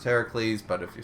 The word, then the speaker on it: Heracles: It's pronounced Heracles, but if you spell it with a U, it's Hercules.